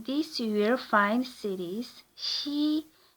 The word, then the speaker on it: 시: In this you will find cities, si, pronounced she, towns, eup, and villages, ri, or li, with the larger cities split into a number of gu, or wards.